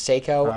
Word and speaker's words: Seiko: I think it's Seiko, S-E-I-K-O, but it might be Psycho. I mean, you could pronounce it the same way.